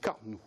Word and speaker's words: Carnoux: Carnou ou Carnoux, en tout cas ça prend un X à la fin, donc Carnou. Je prononce Carnou, tout simplement.